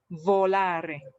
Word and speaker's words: volare: to tell everybody that when you are reading this v yeah it should be so can everyone practice this together your upper teeth touch your lower lips with the volare because if you don't do this then the pronunciation would would sound a little like voila and it sounded like